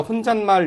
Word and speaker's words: 혼잣말: 혼자말, 근데 이때는 혼자말이 아니라 혼잣말 이렇게 소리가 나죠.